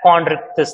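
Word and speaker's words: Chondrichthyes: under gratostomata is chondritis it is pronounced as chondritis that's what if you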